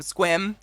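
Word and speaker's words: Sequim: Oh my god, Puyallup and Issaquah, or Squim. Squim's my favorite. Sequium.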